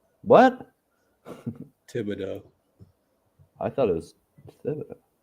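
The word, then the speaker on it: Thibodeau: isn't it yeah huh Maybe maybe someone in his family had Tibido but you think it's tibs like tibs you think it's tibo silent h yeah because that's French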